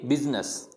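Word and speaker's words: business: एक अपवाद लिखा है, बिजनेस नहीं होता, ये बिजनेस होता है, यानी यहाँ पे जो आई है उसको प्रोनाउंस नहीं करेंगे, इसको क्या पढ़ेंगे, बिजनेस।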